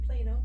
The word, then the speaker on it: Plano: Yeah, Plano.